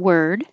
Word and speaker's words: word: to the Y billiard worth and word are a good combination because they're both spelled with o but sound like e they sound like er were like where were you